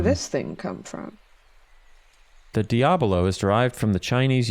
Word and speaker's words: Diabolo: It does, but it's spelled Diabolo, like a bolo, Diabolo. Whereas Diablo in Spanish doesn't have that second O. It's just Diablo.